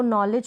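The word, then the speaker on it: knowledge: पर ध्यान रखें की सबसे पहले स्टार्टिंग में के आता है और के साइलेंट रहता है एन से पहले अगर के आए चलिए अगले रूल की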